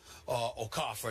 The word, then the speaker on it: Okafor: Listen, Karl Anthony Towns and Jahlil Okafor, Okafor, that's the way they say his name is pronounced.